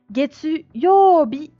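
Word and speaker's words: 月曜日: le mettre, par exemple, pour le jour lundi, Getsu Yobi. Getsu Yobi. Ça fait longtemps que j'ai pas tracé mes kanji. Yobi. Et là, on voit le kanji du jour qui se lira Bi. Getsu Yobi.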